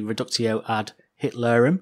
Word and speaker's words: reductio ad Hitlerum: Well, let's hear Tom using the reductio ad Hitlerum.